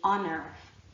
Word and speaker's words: honor: mouth when you say honor, as opposed to when you say heaven, right? Try it. Honor, heaven, and you will feel that there is no air because the H is silent.